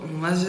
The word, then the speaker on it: MATZ: The "MAT" in MATZ is pronounced with a "d".